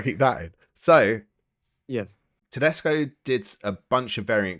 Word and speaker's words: Tedesco: it's I've done it wrong it's it's Julian Tesco H it's julan Totino Tesco is my number